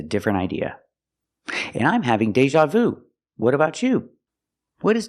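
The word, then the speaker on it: déjà vu: I'm having Deja Vu pronunciation Deja use the long a like play and say day Deja use the z sound like an usual Deja Deja Vu I'm having Deja Vu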